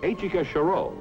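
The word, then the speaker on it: Etchika Choureau: Pronounced Achika Sherol.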